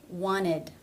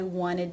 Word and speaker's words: wanted: tea there's no D also wanted I wanted to know one again no stop no tea and no D these could possibly be